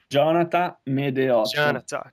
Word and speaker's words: Gionata Medeot: Jonathan Medeot. Jonathan. Okay, so it's got Uh, that nice accent in there, which is pretty Yeah, cool. it's like Jonathan, but without the N at the end.